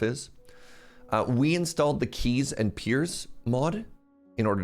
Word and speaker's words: Quay: what do you mean it's not pronounced Quay but it's spelled Quay like quail the birds aren't Keels yeah key like the energy that